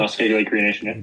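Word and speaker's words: Muskeg Lake Cree Nation: Is that pronounced correctly? Musk Lake Creation.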